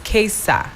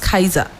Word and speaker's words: Kaesa: It's Quesa. Quesa. Like case and a Quesa, not Kaiser.